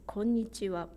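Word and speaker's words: こんにちは: are five bits konnichiwa when it's written in Roman alphabet you might think there are only four syllables konnichiwa but if you say Konnichiwa in four beats it sounds strange to us because a beat is missing here so that's about Japanese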